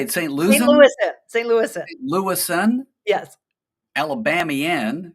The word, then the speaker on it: St. Louisan: St. Louisan?